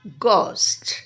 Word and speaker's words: ghost: at the first word ghost what's the sound of the GH here here the sound of G is a hard G most of the time